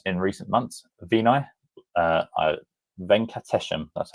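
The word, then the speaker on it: Venkatesham: Vini uh Venates, that's how you say it, is hired as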